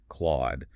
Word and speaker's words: Claude: He points out that Anthropic's flagship AI model, Claude, sounds phonetically identical to Claude.